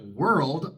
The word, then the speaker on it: world: Y la palabra world, para colmo, termina en 3 consonantes. RLD. World. Igual, vamos a pronunciar una pequeña A después de la D.